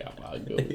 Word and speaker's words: gabagool: Freaking gabagool.